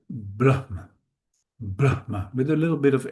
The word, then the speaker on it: Brahma: Um, we stress the first part in this case and actually we make a little separation for a proper pronunciation. That's why we say Brahma with a little bit of air.